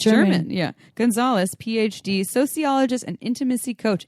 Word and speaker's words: Gunsaullus: It is spelled Gunsaullus. German. It's German. Yeah. Gunsaullus, PhD, sociologist and intimacy coach, is a national